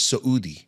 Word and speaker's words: Soudi: And my my surname is Saoudi. Saud. Saud is like going up, right? Saud, okay. Saud. But not spelled the same as Saudi Arabia. It's with the saut.